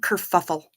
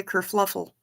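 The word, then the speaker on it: kerfuffle: discombobulate discombobulated I like Kur fuffle Kur fuffle is fun to say and a lot of people say it wrong they they they say Kur fluffle and that's not correct if you're gonna say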